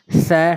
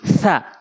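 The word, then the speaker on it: ث: সা শিন সা, এই সা শিনের ভিতরে পার্থক্য শিখতে হবে। সা জিব্বার আগে দাঁতের আগে নর্মালি, সা সা জিব্বার আগে দাঁতের আগে, একটু খেয়াল করুন, জিব্বার আগে দাঁতের আগে মিলান।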